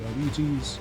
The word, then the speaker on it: Arbites: I refused to pronounce them as Arbites because there's no way that's the actual pronunciation, even though Games Workshop themselves have said the pronunciation is Arbites.